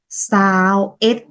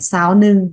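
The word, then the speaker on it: ຊາວເອັດ: 21 tiếng Lào đọc là sao ít. Sao ít không phải sao nưng.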